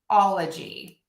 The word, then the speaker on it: -ology: The tricky bit here is that the stress is going to go on the all.